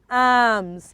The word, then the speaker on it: alms: cold not cold okay a-l-m-s i'm sure is arms it is not alms give arms to the